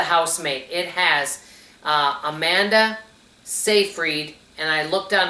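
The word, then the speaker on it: Seyfried: It has uh Amanda Safereed and I looked on how to pronounce that last name. According to what I looked up, that's her name. Amanda Safereed.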